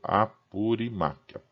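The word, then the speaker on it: Apurímac: das fontes do Rio apurimac purac né Tem um um acento no i desce assim a pronúncia que por sua vez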